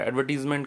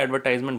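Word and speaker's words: advertisement: एडवर्टीज़मेंट का। एडवर्टीज़मेंट बोलिए या एडवर्टाइजमेंट बोलिए, कुछ भी बोलिए, दोनों ही सही है, अपना अपना प्रोनाउंसिएशन है।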